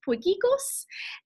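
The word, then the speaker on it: potjiekos: how to pronounce this word so it's actually pronounced boy giggles and it is a Afrikaans word and I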